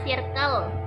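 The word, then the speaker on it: circle: dan cirkle K Hai Bacanya sirkel sirkel jangan kir click to Ayo kita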